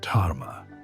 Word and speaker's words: dharma: The ancient principle behind this transformation is called dharma, pronounced dharma. Dharma is often translated as duty or righteousness, but it's more accurately understood as aligned action.